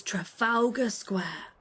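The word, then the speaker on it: Trafalgar Square: Final one is Trafalga Square.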